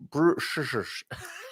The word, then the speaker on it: bruxas: Bruxas. Yeah, exactly. Bruxas. Bruxas. Okay. Yeah, it's like you need to, Everybody at home, please. Bruxas. Bruxas. Okay, yeah, bruxas. it's like a shush.